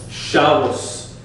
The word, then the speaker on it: Shabbos: This is why they say Shabbos. Because there's no dagesh in there, it's an S sound.